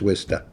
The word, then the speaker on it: Worcester: that people spell it with the AH at the end or an ER or whatever. Okay. To me, it's Worcester.